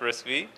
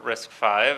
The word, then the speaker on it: RISC-V: wiki page on wiki Debian not org slash risky or risk 5 as it's supposed to be pronounced so risk 5 is an open-source instruction